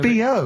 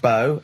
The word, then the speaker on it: B.O.: So it's B.O. It's B.O. That's It's pronounced B.O. Well, yeah, but you've got to play... It's not pronounced bow, and it's not spout bow.